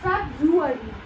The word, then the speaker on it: February: So instead of saying that Ari, you should say it Ari. February. And there is, you have to use this pronunciation. RU or the R sound should come over here while speaking this word.